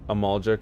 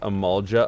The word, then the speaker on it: Amalga: be fair i'm not i'm not saying amalga correctly it's amalga uh but um i